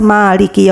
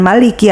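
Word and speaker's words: مالك: Allah karena sudah diketahui sebagian ahli pembaca Alquran membacanya dengan Maliki atau pendek dan yang lainnya membacanya dengan mad asli atau Maliki keduanya benar dan Mutawatir atau riwayatnya dapat diterima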